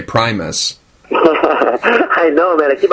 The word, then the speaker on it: Primus: But really, my name is pronounced Primus. Primus, yeah. Everybody says Primus, and I just got used to that, so whatever it is.